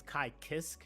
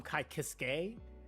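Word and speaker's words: Ky Kiske: of like um uh there's a character named uh Kai I think it's I think the right way you pronounce it is Kai Kisk, but I used to call him Kai Kiske.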